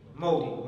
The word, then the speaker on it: Modi: example, BJP, Modi, or Moody, how do you pronounce his name? Modi or Moody? Modi.